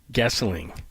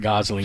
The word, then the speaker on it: Gosling: Gessling is his name. It's not Gosling, even though that's the way it's spelled.